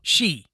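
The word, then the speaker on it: 死: So the Japanese word for death is shi.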